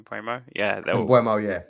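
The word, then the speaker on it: Mbeumo: Yeah, Mbuemo, yeah. Mbuemo, that's how you say it, yeah.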